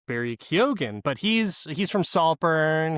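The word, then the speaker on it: Barry Keoghan: his name wrong, but he pronounces it Barry Kyogan, but he's he's from Saltburn.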